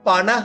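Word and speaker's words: පනහ: பணசட்ட 58 பணஸ்னாவைய 59 அப்ப நீங்க ஞாபகப்படுத்த வேண்டியது பணக என்றா 50 பணஸ் என்றா 50 என்று வரும்.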